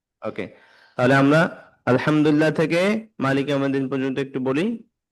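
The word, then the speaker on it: الحمد لله: হরফটাকে কিভাবে উচ্চারণ করি আমি কি লামটাকে আল আলে আলে বলছি কিনা আল বলছি হ্যা হ্যা এভাবে আলহামদুলিল্লাহি রব্বিল আলামিন আর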